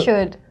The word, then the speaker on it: should: seperti could would itu shouldeh should ya kan nah Kebanyakan kalau orang Indonesia bacanya cult ya kan W sama SH Yang bener gimana tuanya biasanya l-nya itu tidak dibacaah iya jadi diskip tuh